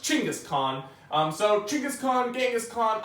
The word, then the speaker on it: Chinggis Khaan: been biggest tongue but I recently heard that it's actually pronounced Chinggis Khaan so choucas Khan Genghis